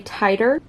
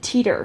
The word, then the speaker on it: titer: Not me Googling the pronunciation of this word, and it's apparently titer. I said teeter.